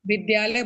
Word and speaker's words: विद्यालय: एक चीज सुधारना चाहूंगी वो विद्यालय है विद्यालय नहीं है ठीक है जैसे विद्या विद्या प्लस आलय विद्यालय उसको उच्चारण में आप विद्यालय बोलेंगे। अगर आप विद्यालय बोलेंगे तो आप जब उसका वर्ण विच्छेद करेंगे तब आप व प्लस इ प्लस ध प्लस य प्लस आ कर देंगे ना नहीं नहीं द आएगा द प्लस य प्लस लिखने में